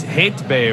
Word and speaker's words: Heyt be: turkish yeah because uh it's it's hate bay right yeah right pronunciation awesome yes and uh